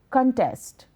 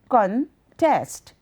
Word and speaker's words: contest: You can either put a stress on the first syllable or the second, which would be as follows: contest, contest. The word with a stress on the first syllable is a noun. That means a competition. The word with a stress on the second syllable is a verb. That means to oppose.